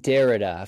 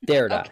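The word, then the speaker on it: Derrida: but I don't I don't know how to pronounce it it's jacqu derera you said uh jacqu dereda French philosopher post philosopher Dera yeah yes he he always comes up and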